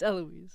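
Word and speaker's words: Héloïse: So, in French, they don't pronounce the H. Sounding like a fool. My bad. I didn't want to interrupt. I was like, "Oh, it's Eloise."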